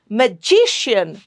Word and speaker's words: magician: Magician. G gets the stress. The syllable G. Magician.